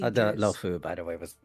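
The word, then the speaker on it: Luofu: The lofu by the way was how it's pronounced.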